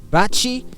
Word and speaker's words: Baci: woman called the Hilda Bachi is that how you pronounce her name b-a-c-i Hilda Bachi who officially broke the